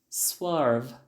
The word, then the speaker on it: swerve: Próxima palavra, swerve. É um verbo, só tem uma sílaba, então quando você for pronunciar, né, você vai fazer o som de uma sílaba apenas.